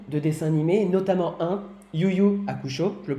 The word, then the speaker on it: Yu Yu Hakusho: Vous faites aussi donc beaucoup de dessins animés, notamment un, Yu Yu Hakusho, je le prononce bien oui.